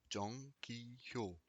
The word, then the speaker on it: Jang Ki-hyo: Jang Ki-hyo. Encore une fois, le Jang, et vous pouvez prononcer le H de Hyo si vous voulez vraiment être parfait à votre prononciation.